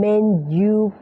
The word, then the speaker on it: menu: see the menu Please ออก เสียง เป็น Men you นะ ค ใคร ติด เมนู มนู นะ คะ ก็ เวลา พูด กับ ฝรั่ง นะ ก็ จำ คำ นี้ แบ่ง แบ่ง แบบ นี้ อ แบ่ง ตาม หลัก ตาม สัญลักษณ์ ipa เลย Men Men You แบบ นี้ ได้ เลย